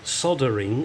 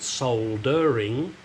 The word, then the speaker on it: soldering: and I am no soldering export export or soldering As Americans say I don't know why there is a letter rail in there guys you should pronounce it soldering anyway um I could have made these shorter